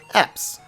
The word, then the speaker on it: Eps: He wants to give us an Eevee, which I will take, and name this Eevee Eps. So the name is pronounced Eps, however it's probably better referred to as EPs, as I'm naming it